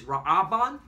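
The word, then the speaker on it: רְאוּבֵן: All right, which is in the Hebrew is Ra'aban.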